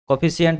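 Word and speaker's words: coefficient: को ऑफिशल और बोलते हैं क्या बोलते हैं कॉफी सेंट बोलते हैं कॉएफिशिएंट बोलते हैं ठीक है क्या बोलते हैं कॉएफिशिएंट बोलते हैं थोड़ा सा स्पेलिंग इसको सही कर लेते हैं इसको कॉफी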